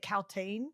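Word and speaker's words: Kaltain: And then is it Caltaine? Is that how you Yes.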